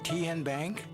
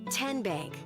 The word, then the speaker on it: Tenbank: How do you say the name? TN Bank? Nope. Tin Bank? Uh-uh. So, what is it? Tenbank. 10 as in Tennessee.